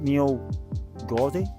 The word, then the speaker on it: Meall Ghaordaidh: today it's a single one roll um it's pronounced meal gy but it's spelt like that it's a I